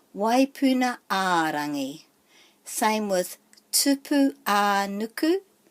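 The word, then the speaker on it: Waipuna-ā-Rangi: So the emphasis is on a, waipuna a rangi.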